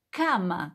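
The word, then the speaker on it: כמה: dice cuánto en hebreo se dice cama como cama cama c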